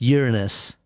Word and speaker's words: Uranus: It's pronounced Uranus, which I don't think is any better because you took out anus and you put in urine.